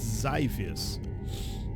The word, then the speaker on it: Xyfius: weird uh zus zus okay it's zus this is the way you pronounce it or at least according to internet zus zus heavy escort